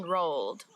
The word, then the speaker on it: rol: The pen rolled. This one is funny because roll, all you have to do is roll your tongue on your mouth, so it makes the r sound like before.